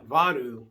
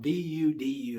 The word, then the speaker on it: Vudu: And so I got on Vadu, or it's Fandango account, VUDU is how you pronounce it.